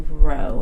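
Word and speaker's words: rho: called the row so this is pronounced row it's a Greek letter cool cool so now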